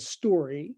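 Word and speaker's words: STQRY: of a company called story stq that's not misspelling by the way s-t-q-r-y they pronounce it story and it's a cute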